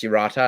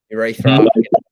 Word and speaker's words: Uerata: But Uerata, it's pronounce Uerata, and they'll say Uerata or urethra.